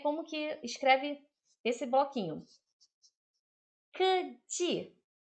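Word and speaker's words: 科技: Keji. K é K, tá? K mesmo. K é K. É assim que pronuncia.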